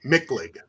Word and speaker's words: Michlig: Michlig. Michlig? Hit it hard. Michlig. Michlig. I don't know why they spelled it that way, but that's the way they did it. Michlig.